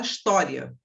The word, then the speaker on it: história: curiosidade para você certo por exemplo a palavra história normalmente ela vem e como paroxítona raramente você vai encontrar um livro que diga que história é proparoxítona porque você não fala sem história certo normalmente você fala história Então ela vem como paroxítona Mas você pode ver